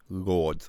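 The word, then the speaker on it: Lourdes: just move on paul lords lords why don't you just spell it lords like in england they have lords it's instead of you're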